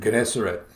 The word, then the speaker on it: Gennesaret: You pronounce that word. Gennesaret.